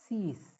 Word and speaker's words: six: Number 6 is six. The spelling is same, S-I-X, but the pronunciation is little different.